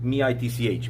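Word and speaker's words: mici: You actually pronounce it as like M-I-T-C-H, Mitch.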